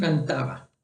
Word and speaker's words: cantaba: Yo tengo una pronunciación de B que no es tan marcada como cantaba, o hay gente que dice cantaba. Yo simplemente digo cantaba. Es una B un poco más suave, ¿ok?